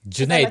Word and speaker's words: Jade: I saying it right Jade Jade like lemonade yeah yeah that I